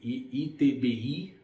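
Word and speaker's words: ITBI: you will pay is the etbe that's how we pronounce in Portuguese in English we would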